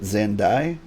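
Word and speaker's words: Xande: While you pronounce it Xandi, I think most people pronounce it Xandai. I'm going with Xandi.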